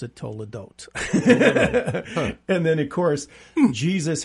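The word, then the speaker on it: תולדות: word for Generation 40 years is Toledo they pronounce it Tola Dot and then of course Jesus has 40 days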